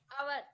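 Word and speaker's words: hour: And here H is silent. Our.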